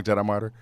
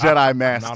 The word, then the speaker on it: Jett I Masstyr: Jedi Master. And if you're going to spell it wrong, Jedi Martyr? No, that's not it. It's Jedi Master. Not a martyr.